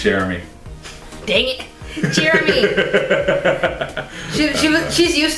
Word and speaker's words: Cherami: It's Cherami.